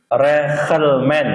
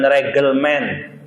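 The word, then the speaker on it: reglement: Head heren Indonesia reelmen reelmen bacanya bukan regelem reelmen orang Belanda itu kalau di tengah dia tidak baca G dia bacanya k makanya orang-orang tua dulu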